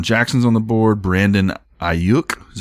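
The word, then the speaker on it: Aiyuk: peterson uh desean jackson's on the board brandon ayuk is how you say it yeah you for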